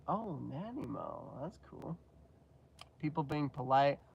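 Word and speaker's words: Nanaimo: Denise lives and the snack I suggested is pronounced nanimo oh nanimo that's cool people being polite what a concept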